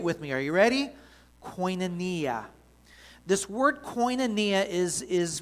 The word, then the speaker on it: koinonia: have you say it with me again it's pronounced koinonia i want you to say it with me are you ready koinonia this word koinonia is is recorded 19 times